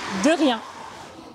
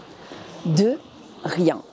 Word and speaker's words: de rien: C'est un son similaire à celui qui débute le mot about en anglais. De rien.